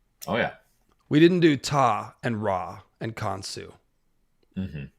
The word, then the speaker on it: Ptah: Let's go over to Ta. There's really only a couple things to say about... I think the P is silent, right? Yeah. Okay. One YouTube video was saying Ptah, and I was like, I don't think that's right.